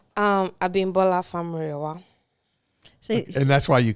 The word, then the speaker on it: Abi Famurewa: And I still, with my southern accent, cannot pronounce it. But I say it's Abi Famurewa. And she says... No. So tell me, so say it correctly. Abi Famurewa.